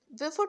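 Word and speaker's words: Beaufort: অ্যারেট next question দেখো what is মেজারড বাই বেফোর্ড scale yes এটার প্রোনাউন্সিয়েশনটা একটু অন্যরকম ইউ টা এখানে উৎস থাকে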